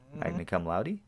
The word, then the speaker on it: magna cum laude: Magna cum laude?